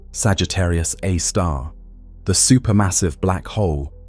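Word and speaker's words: Sagittarius A*: Now, at the very core, at the precise center of the Milky Way's rotation, resides Sagittarius A, pronounced Sagittarius A star, the super massive black hole of about 4 million times the mass of our sun.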